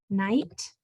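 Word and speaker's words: knight: In the KN, as in night, you only hear the N, and you don't hear the GH at all.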